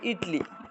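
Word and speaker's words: Italy: ইটলি, ইটলি, ইটলি মানে এটার ইতালি লেখে ইতালি, এটাকে উচ্চারণ করে ইটলি।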